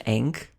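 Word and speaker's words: Ankh: I'm sorry, I think it's cute that you call it an Ank. It's an Ank. That's what it is. That's a Wisconsin pronunciation.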